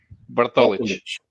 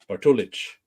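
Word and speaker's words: Bartolić: And then his last name is Bart, O-L-I, and the C with the accent over it. Bartolich. Bartolich.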